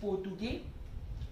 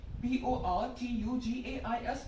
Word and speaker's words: Portugais: In French, it is Portugais. P-O-R-T-U-G-A-I-S, Portugais.